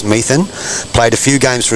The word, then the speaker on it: Metham: Ken Metham, pronounced Methan, played a few games for Australia, a Taren Point legend.